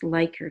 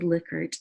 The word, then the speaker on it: Likert: a Likert scale looks like it should be pronounced Likert I think but it is a Likert and it is after a man who developed